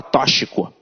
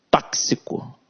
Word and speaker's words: tóxico: dessa aula de gramática tóxico tóxico né olha gente fala toshiko tóxico e semântica então aqui